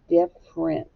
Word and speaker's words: different: hear one f diff different okay we don't really hear the e do we that's not the way we say it different the e is silent so i'm going to